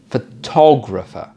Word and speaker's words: photographer: Well, I'm an amateur photographer. So the stress on the word changes because we've added something at the end of the word, from photograph to photographer.